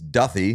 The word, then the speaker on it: Duffy: we heard from James Duffy. Sorry I called him Duthy last week.